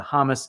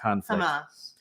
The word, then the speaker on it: Hamas: and more recently the hamus Israel Israel conflict Hamas Hamas yeah um not hummus hummus the hummus the Israeli